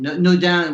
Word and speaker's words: Naudin: Naudin would be how you say it in French.